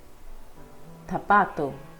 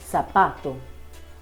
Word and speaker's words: zapato: In Spain, we will say it as zanahoria, zapato, and in Latin American countries we will say it as zanahoria or zapato.